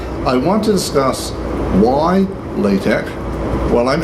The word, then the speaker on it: LaTeX: is layered tap but I hear it one side saying la tech and someone else it latex either yesterday so I'm not very sure the official pronunciation but I've always called it lay tech why that as a